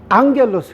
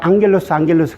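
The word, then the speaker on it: ἄγγελος: 그래서 우리가 앙겔로스 그러잖아요. 그렇죠? 그래서 감마인데 어떻게 엥 발음 나냐? 그러니까 이 두 개 음이 겹칠 때는 앞에 감마를 엥 발음으로 읽는다.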